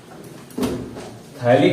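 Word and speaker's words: phthalic: थैलिक अम्ल की spelling P से शुरू होती है। ठीक है, PHPHALIC पथैलिक अम्ल, लेकिन पढ़ते हैं उसको क्या है थैलिक अम्ल।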